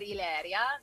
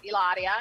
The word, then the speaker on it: Hilaria: um first of all i believe it's pronounced ilaria you said ileria no no no ellaria she's from boston massachusetts